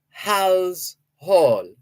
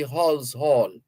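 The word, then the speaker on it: Halse Hall: pronounce that place name h-a-l-s-e h-a-l-l house Hall it never was and never will be Hall's Hall it's Hal's Hall so the immigration officers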